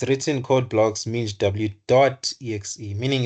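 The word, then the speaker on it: MinGW: no Ming W so what is this Ming W it's actually pronounced as m W so what is this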